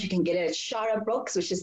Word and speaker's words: Xarra: If you're in Midrand, you can get it at Shara Books, which is spelled Xarra.